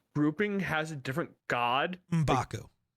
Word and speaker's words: M'Baku: I think M'Baku's grouping has a different god. M'Baku, but close enough. M'Baku. Did I not say it right? The first time, no. Oh, okay.